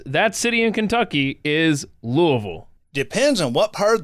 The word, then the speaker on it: Louisville: to point out because whenever i hear people pronounce it louisville or some other variation of the word correct me if i'm wrong but the accurate way to pronounce that city in kentucky is louisville depends on what part of the city you're